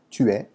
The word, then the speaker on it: tu es: You're really contracting the back of your muscles as opposed to rounding.